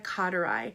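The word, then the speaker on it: carterii: really the workhorse frankincense Boz Walia Cotter I and that's spelled like car Terry Bozz Walia is the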